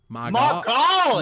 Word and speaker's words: Magali: Evan, pronounce it really southern, but pronounce it as if you're saying the words M-Y space G-O-L-L-Y. Magali.